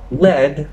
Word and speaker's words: lead: truth lead and lead lead when it rhymes with bed refers to a type of metal lead is the past